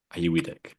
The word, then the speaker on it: Auyuittuq: Auyuittuq.